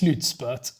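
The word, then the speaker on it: slutspurt: was explained to me that slitzbert as it's pronounced slutspert means actually final sale so basically means final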